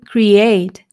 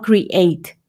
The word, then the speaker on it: create: está escrito create pero en inglés casi siempre que veas la e y la a juntos lo vas a pronunciar como una y no como suena en español create no sino como y create y normalmente las palabras que terminan en e la e no se pronuncia entonces de nuevo no